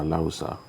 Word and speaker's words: Alausa: That's the one in Alausa, you know, or Alausa, which is the proper way to pronounce it.